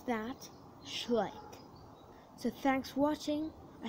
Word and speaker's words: Schleich: You pronounce that Schleich.